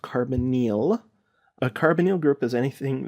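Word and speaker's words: carbonyl: a r b o n y l is pronounced carbonal a carbonal group is anything that has a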